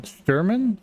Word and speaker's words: Shturman: Sturman Sturman.